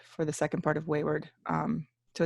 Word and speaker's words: Waywyrd: Okay, so Waywyrd.